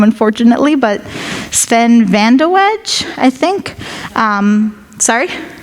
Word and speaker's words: Vandeweghe: I don't know how to pronounce this last name, unfortunately, but Sven Vandeweghe, I think. Sorry? Vandeweghe, okay, yeah, thank you very much for that.